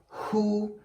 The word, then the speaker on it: who: in them so it's who and whom okay so here w letter is silent okay very nice meaning we don't pronounce the w letter okay okay okay now